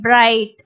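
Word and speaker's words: bright: லைட் will I லை இட் லைட் அதே மாதிரி பிரைட் ஹை நைட் okay so இது வந்து தேர்ட் ரூலை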